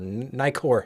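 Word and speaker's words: Nikkor: just had to know they were Nicor or nikor however you want to say it in your Regional pronunciation it's just so interesting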